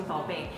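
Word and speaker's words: 宝贝: So she wanted to learn, but she pronounced it as Bao Bei. So Bao Bei means baby and Bao Bei means scallop, like the seafood scallop. So slight difference, but big difference in the meaning.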